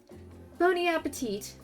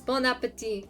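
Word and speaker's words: bon appétit: an undisclosed tropical paradise that's not how you say it um bony appetite appetite pony appetite it's bon appetit but anyway don't you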